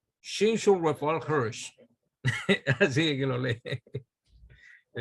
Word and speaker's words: Shimshon Raphael Hirsch: Yo escuché a Rabino Viñas leyendo el nombre de ese rabino y oye cómo es que lo pronuncia. Rab Shimshon Raphael Hirsch.